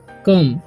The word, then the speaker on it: come: ठीक, तो जब भी सेकेंड में ओ आए और लास्ट में ई आए तो ओ का उच्चारण क्या हो जाता है, अ हो जाता है, और लास्ट में ई का उच्चारण हो जाता है अ। तो इसे हम पढ़ेंगे कम। ठीक, BOYS, बॉयज।